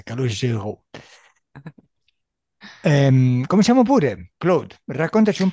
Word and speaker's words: Calogero: Calogero. Mm. Ottima pronuncia, Calogero.